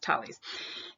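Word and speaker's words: Thales: mentioned Holly's looks like fail YZ but it's pronounced tallies and he wrote down some really interesting math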